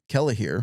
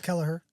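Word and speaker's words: Kellehear: Australian sociologist Alan Kell kellahir I'm sorry Alan if I butchered your name I think it's Kellaher yeah we'll go with Kellaher uh highlighted journeys to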